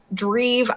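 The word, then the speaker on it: Drive: of his former band, Dreve. I think it's how it's pronounced. It's DREVE. Rhymes with Steve, I'm imagining.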